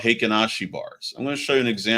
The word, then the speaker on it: Heikin-Ashi: Okay, so Heikin-Ashi bars, that's how someone who was Japanese told me that's how you pronounce it.